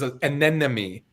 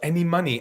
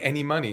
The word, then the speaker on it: anemone: and then know me it was to me it was an enemy he was like no it's any money any money and i thought how